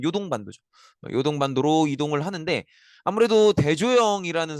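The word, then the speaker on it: 遼東半島: 처음에는 한반도와 중국의 입구라고 하는이 야 야오등반도 어 이제 중국가 발음으로 야오등반도고요. 이제 우리식 한자로 읽으면 요동반도죠.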